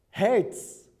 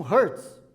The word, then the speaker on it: Hertz: Algumas pessoas pronunciam Hertz. Não tenho certeza, mas pelo que eu entendo um pouquinho do alemão, Hertz.